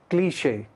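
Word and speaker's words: cliché: क्लिश अब क्लिश जो word है वो फ्रेंच का है क्लिश इसको सही आपने प्रोनाउंस करना है करेक्ट प्रोनंसिएशन करनी है सी एल आई सी एच E accent के साथ क्लिश यह फ्रेंच वर्ड है इसका मतलब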